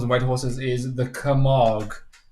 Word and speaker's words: Camargue: white horses is the Camargue. So apparently that's how you pronounce it. Camargue. There you go. So, just in case there was some kind of dodgy G or something.